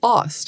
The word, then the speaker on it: Aust: And I say Aust. It's like Austin, Texas. But the German pronunciation is actually Aust.